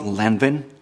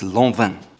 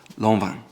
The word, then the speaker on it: Lanvin: It's not Lanvin, as you might think, it's Lanvin. Again, pronounced Lanvin. Lanvin.